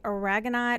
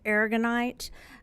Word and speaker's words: aragonite: And I added in, and we don't have a picture of this, but another one called, you can say aragonite or aragonite, however you want to pronounce that.